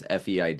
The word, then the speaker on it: Feid: like two three years feid is the pronunciation I don't think we've